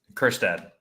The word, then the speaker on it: Kjerstad: How do you pronounce his name? Kierstad? Kjerstad. Yeah. Kjerstad. Heston Kjerstad.